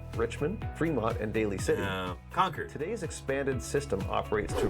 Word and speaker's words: Concord: Richmond Premont oh you can tell this person not from the Bay Area because how did he pronounce it like DJ run that back of San Francisco and Oakland with original termin in Concord oh oh conquered conquered is how we say it conquered Concord oh boy uh-uh uhuh